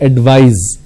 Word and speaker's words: advise: c you need to use s and it's pronounced that advise so please advise me i want to advise